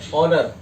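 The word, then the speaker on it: honour: अब ये ऑनर, इसमें भी सम्मान, ऑनेस्ट, ऑनेस्टी, ऑनरेबल, सब में एस साइलेंट है, ओके।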